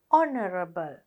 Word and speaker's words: honorable: එතකොට මෙතනත් honorable කියන එකේ h h එකේ sound එක නෑ silent. අපි කියන්නේ honorable.